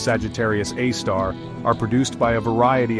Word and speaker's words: Sagittarius A*: The strong radio emissions emanating from the galactic center, particularly from the compact, bright region known as Sagittarius A*, pronounced Sagittarius A star, are produced by a variety of highly energetic astrophysical processes.